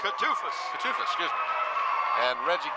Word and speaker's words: Kutafis: And the last starter for Denbigh will be Alonzo Randall, and they are coached by Dennis Kutafis. Did I pronounce that right? Kutufis.